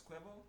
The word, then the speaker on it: Cuervo: AR Jose quo qu it's quo quo you had r inigin r right there but that's you don't pronounce the r okay Jose qu qu